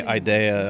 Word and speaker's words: Idea Factory: Yeah, Idea Factory's pronounced Idea. Like DI, Idea.